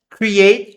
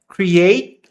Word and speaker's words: create: E aí aqui can normalmente, como tá escrito, create admiration. Esse T e esse I aqui a gente não vai falar create admiration. Claro, tem uma um um eu costumo chamar de o espírito dessa sílaba aqui do t e o e, só que a gente não fala create e também a gente não fala create admiration. Existe a impressão daquele t create admiration.